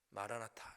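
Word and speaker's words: Maranatha: 주 예수님 빨리 오시옵소서 마라나타 이렇게 발음하죠 아람어 주님 빨리 오시옵소서 우리에게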